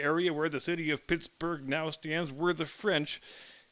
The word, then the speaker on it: Pittsburgh: people of British extraction used the b-u-r-g-h suffix it is always pronounced bura so it's reasonable to